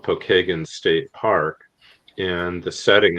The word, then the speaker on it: Pokagon: No, it's a Well, it's actually the name Pokeagan is how we pronounce it here in Indiana. Pokeagen is an Indian uh a Native American tribe.